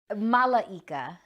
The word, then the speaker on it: Malaika: your name i'm sorry malaika oh four syllables you're almost a gypsy